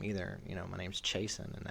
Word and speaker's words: Chason: you know my name's Chason and everyone called me chasson which is technically the proper pronunciation right cuz it's French but yeah um but